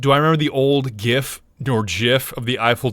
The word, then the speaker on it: GIF: haven't changed my mind it is absolutely GIF because the Creator called it gif he's dead so he